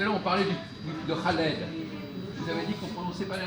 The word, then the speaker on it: Khaled: Si on met, du moment qu'on met KH en français, on doit dire Khaled. C'est fait pour ça. D'accord. Donc là, on fait une faute encore. Parce qu'on prononce Khaled comme si c'était un K tout seul ou un C tout seul.